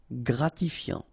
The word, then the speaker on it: gratifiant: Same thing here. Final T not pronounced. Gratifiant.